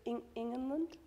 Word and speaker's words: Ingenlund: it and trying to pronounce it correctly. But well, yeah. go on. Is it Ingenlund?